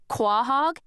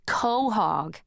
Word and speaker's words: quahog: Only they said it the way it's spelled, "Quahog," instead of the way it's supposed to be pronounced, which is co-hog, and I was all, "You don't know what a cohog is?"